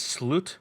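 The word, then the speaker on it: slut: you speak English because the Swedish word for the end is salute which is spelled yeah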